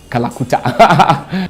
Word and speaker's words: Kalakuta: Calcutta, if a typical African wants to pronounce it, it just become Kalakuta.